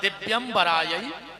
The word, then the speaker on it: दिवराय: को गलत बोलता है शुद्ध उच्चारण है दिवराय दिगंबराय और आदमी जल्दी जल्दी में बोलत है दिगंबराय दिगंबराय दोनों बार दिगंबर दिगंबर कहता है ये मंत्र है